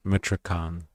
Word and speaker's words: Michoacán: Protesters say they want concrete measures now to That's how you say it, Michoacán. Interesting. I was wondering how to pronounce that.